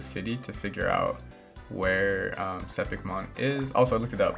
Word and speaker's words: Sepikmon: to figure out where sepikemon is also looked at that believe it's um sepikmon that's how you say it um so i'll define